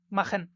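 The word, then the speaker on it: machen: তো এখানে লক্ষ্য করুন, সিএইচ এর সামনে আ আছে। তো আমরা জানি আ, ও, উ, এই তিনটার যে কোনো একটা থাকলেই খয়ের মতো উচ্চারণ হবে, মাখেন।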